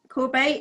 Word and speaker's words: Courbet: Is it Corbett or Courbet? Yep, Courbet is correct.